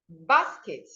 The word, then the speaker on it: basket: The next one you have is basket. Basket, you see, basket, basket, basket. So naturally, when a word is a noun or an adjective, please stress the first syllable.